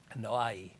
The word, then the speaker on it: Anoa'i: Anoa'i is their name. Anoa'. Anoa'i. I don't know how you speak Islander. Anoa'i. The I is Anoa'i. Anoa'i. Anoa'i. Anoa'i. Anoa'i. Anoa'i.